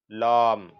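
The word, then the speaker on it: لام: और ये लाम, लाम, लम नहीं है, लम, लाम, लाम, लाम। फा, काफ, काफ, लाम।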